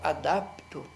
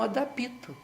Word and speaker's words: adapto: de P mudo, portanto, jamais a gente poderia pronunciar essa palavra com adapito, porque se ela fosse escrita e tivesse um I no PI, aí sim, era adapito mesmo, não é?